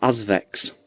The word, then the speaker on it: Azvex: brewery in Liverpool um called Azvex. That's AZ Vx I think it's spelled.